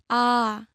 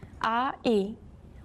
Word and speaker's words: 아: Now if you take the last character and add a short stroke to the right side, it becomes your second vowel, a. 아, As you practice the pronunciation, try to associate the sound with the character.